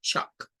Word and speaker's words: chalk: Eso significa tiza, de hecho, chalk.